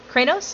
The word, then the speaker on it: Kronos: after that cron uh cranos or Kronos hold let me see your name cranos is that how you say it yep okay so after